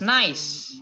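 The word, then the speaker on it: gneiss: correctly nice nice very good uh this is pronounced as nice it's not nice it's not guinness or something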